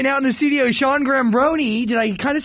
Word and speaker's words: Giambrone: Sean Giambrone.